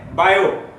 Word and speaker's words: Biot: long इसको video 720 बोलते हैं 30 में साइलेंट है तो इसको को हैं बायो सेवर्ट 90 से एक बायो तय सेवर था